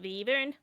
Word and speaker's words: wyvern: Technically, it's pronounced wyvern.